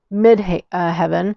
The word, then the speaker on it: midheaven: And I knew about the ascendant and the midheaven. I want to say haven all the time, but it's heaven.